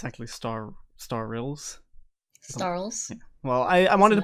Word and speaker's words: Starylz: the time I actually thought her name was star Lee by the way but mispronounces really this is nothing new uh it's actually star star rills starless well I wanted to put emphasis on